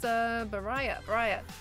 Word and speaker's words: Baraya: Pronounced Baraya. I definitely butchered it completely originally then.